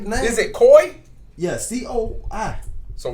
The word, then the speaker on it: Coi: yeah it's it's it's i like is it koi yeah c-o-i so it's just koi yeah coil-o-ray like boy we'll put a a c instead of a y or i quarter koi what yeah is she having a beef with